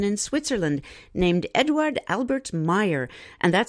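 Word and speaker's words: Meier: Since the 1970s, a humble one-armed gentleman in Switzerland named Eduard Albert Meyer, and that's spelled M-E-I-E-R, has been having regular contact with off-worlders.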